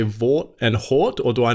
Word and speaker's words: VAWT: Is it acceptable for me to say Vought and Hort, or do I need to use it as the acronym and say HAWT or VAWT? No, you pronounce it Vought or Hort.